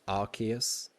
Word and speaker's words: Arceus: plates yeah it's apparently it started off in the anime being pronounced like that then it changed to something else and now it's arceus and it the rumor is it's because it's got the name like it was pronounced like ass and obviously that made